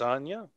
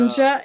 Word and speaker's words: Anja: things around here, Miss Anya. For example, have you heard that... Anja? It's Anja, first of all. Dang it. You do pronounce the hard J.